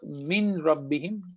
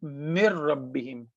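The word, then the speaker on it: من ربهم: So it's not min rabbihim. Noon will not be pronounced here. It's mir rabbihim. Noon is gone, and we connect meme to ra, mir rabbihim.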